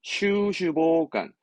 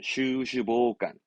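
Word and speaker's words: 袖手傍観: 발음은 슈슈보간, 슈슈보간입니다. 슈슈보간.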